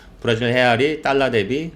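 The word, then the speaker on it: real: 어 1레알 뭐 브라질 헤이라 그러죠. 그 포르투기 포르투갈은이 R 발바음을 H 발음을 하니까 그 브라질 해알 1알같이 샀다.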